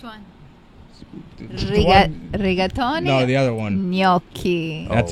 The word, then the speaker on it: gnocchi: for everyone which one no the other one gnocchi that's how you say it everyone's like gnocchi